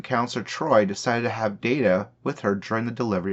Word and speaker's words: Data: kind towards lieutenant commander data when she first boarded the ship she saw him in no more than a machine pronouncing his name as data rather than data and did not understand